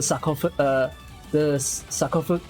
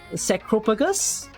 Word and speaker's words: sarcophagus: Sacrophagus? Sacro? It's not sacro.